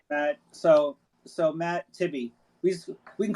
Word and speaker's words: Taibbi: Taibbi, I believe Matt Taibbi is how you do it. Matt Taibbi, right? All right, Matt. So Matt Tibby.